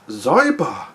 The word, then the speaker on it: Xyber: it g bar henceforth even though we both know it's zybar jesus this is uh